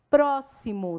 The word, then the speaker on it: próximo: Próximo tem um som de S.